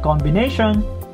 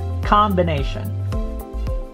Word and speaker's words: combination: capital capital combination not combination it's combination this o here sounds like a letter a so you drop your jaw you say combination combination combination assumption assumption assumption modified